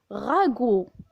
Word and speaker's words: ragoût: Maman a préparé un G avec le son OU qui s'écrit avec OU, on dit ragoût. Un ragoût. Et la lettre T est muette.